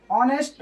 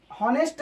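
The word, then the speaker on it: honest: एन ऑनेस्ट मैन, हॉनेस्ट को ऑनेस्ट पढ़ते हैं, तो यानी कि एन ऑनेस्ट मैन, यहाँ पर एक ईमानदार आदमी।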